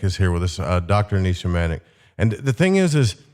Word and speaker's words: Nisha Manek: I didn't butcher that hey he was perfect Nisha manic perfectly pronounced and so are where are you calling